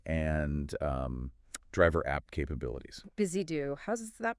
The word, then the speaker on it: BUSYDO: Busy do. How's that pronounced again? It's be I do. Think of it like busy doing things.